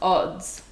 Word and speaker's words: Adz: to start with yeah it's pronounced odds oh what doesn't he